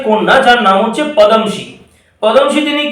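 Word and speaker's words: Padmaja: পদমশি, উচ্চারণটা ঠিকঠাক ভাবে করতে হবে, উচ্চারণটা হচ্ছে পদমশি।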